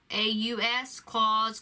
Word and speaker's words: Klaus: watching the movie called klaus it's spelled k-l-a-u-s claws klaus it is a animated movie